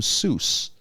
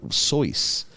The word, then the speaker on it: Seuss: pronounce his last name seuss oh really he if you asked him what's your last name oh pronounce like voice okay dr soyuz but they mispronounced it